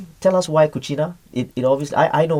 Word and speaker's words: cucina: can use cucina but the word begins with letter c yes in italian it's a letter c is kuchina and i said but then the melee they will say chuchina right it will come